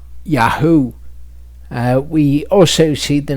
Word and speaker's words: Yahu: The difference is when you have the Yud Hey Vav at the beginning, it is Yaho. When you have it at the end, it is Yahu.